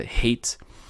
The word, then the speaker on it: hate: ou a palavra hate, esse E no final não vai... Primeiro, a gente não vai pronunciar. É tipo, como se fosse uma letra invisível. Realmente não tem pronúncia nenhuma, tá? E a vogal que fica no meio daquela palavra, que tem o E invisível no final, vai ter um som elongado, vai ter um som exagerado, tá?